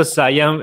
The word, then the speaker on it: Siam: get discovered that's right so sayong is how to say there is many it's